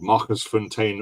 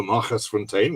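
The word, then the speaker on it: Magersfontein: One of the most famous ones is this one by Etienne Leroux, called Machersfontein or Machersfontein, which is pronouncing it in Afrikaans for you.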